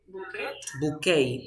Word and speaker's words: bouquet: is a French word you say boo bouquet no because bouquet is a French word you